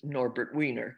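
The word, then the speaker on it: Norbert Wiener: with behavior psychology was norbert weiner i'm giving him the pronunciation that uh americans give and that he used he was a mathematician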